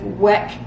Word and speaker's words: Weck: with pressure canning with wick wek all I say it wrong I've got to remember WEC K with wek jars so join us next